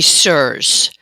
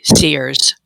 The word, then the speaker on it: CIRS: would say the majority of people say sirs I've never heard Dr Shoemaker um you know correct someone for saying it a different way so I think we're different parts of the country people pronounce things differently or put different accents pretty much we know what what that means when they say seers um okay yeah perfect because